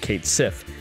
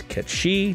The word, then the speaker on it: Cait Sith: Yuffie, Red 13, and Kate Sif, even though it should technically be pronounced as Ketshi due to his Gaelic and Irish roots.